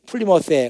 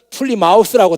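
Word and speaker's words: Plymouth: 플리머스 발음하는 거 보면 알아요. 안 갔다 온 사람들은 플리마우스라고 다 그러면 플리마우스, 쥐새끼 생각하는 거예요. 근데 그렇게 발음 안 하거든요. 갔다 온 사람들은 플리머스라고 발음해요.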